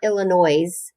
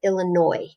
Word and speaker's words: Illinois: long ago illinois and it's spelled it's spelled with an s at the end but it's a french word so we don't say the s at the end it's not illinois it's illinois long ago ago illinois